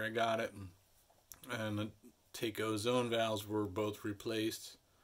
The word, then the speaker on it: Taco: So these zone valves made by Taco, spelled like taco, but apparently it's pronounced Taco.